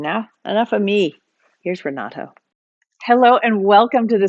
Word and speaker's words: Renato: Most Americans pronounce my first name Renato, like a deer, which that's not the way. That's not the way it's spelled. That's not the way it's pronounced.